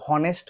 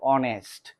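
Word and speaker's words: honest: যেমন দেখ এখানে এই এন এসটি এটা কিন্তু হনেস্ট হবে না। এটা কি? এটা হচ্ছে অনেস্ট।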